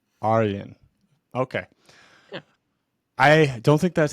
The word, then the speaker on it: Arjen van Berkum: Properly pronunciation is Arian. Arian.